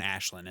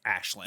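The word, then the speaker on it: Aisling: ash was it ashley it's spelled like a-i-s-l-i it sounded like they were saying ashlynn it sounded like they were saying the the girl in the forest it sounded like ashland it's one of those irish names where it's not pronounced how it's spelled yeah but uh anyway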